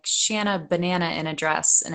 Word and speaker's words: Shanna: Like people don't know how to say Shanna. Did they say Shayna? They say Shauna if they mess it Oh, up, usually.